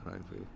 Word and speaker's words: Renfield: Reinfield, is that how you pronounce it? Yeah, Reinfield.